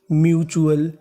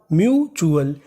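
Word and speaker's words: mutual: आपको कहीं पर टी यू एल लिखा मिले तो उसका उच्चारण करना है चुल। एम यू इसे क्या पढ़ेंगे? म्यू। क्या पढ़ेंगे? म्यू। तो मीनिंग बनी म्यूचुअल। म्यूचुअल।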